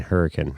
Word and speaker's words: Hurricane: are I like saying hurricane Hurrican it's h it's spelled hurricane but it's pronounced Hurrican well I guess what